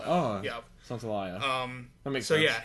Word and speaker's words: Santaolalla: I always feel like if I read it the way it's spelled, that sounds too like Gustavo Santaolalla. Laya. Because it's Laya. Oh, yeah. Santaolalla.